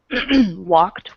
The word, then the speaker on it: walked: a second you guys the Ed ending is pronounced like a t Okay so that's why you have walked with Ed you have the T at the end walked like that walked okay so if any